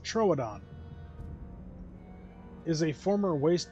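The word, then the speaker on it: Troodon: So it's pronounced troadon is a former waste b waste back basket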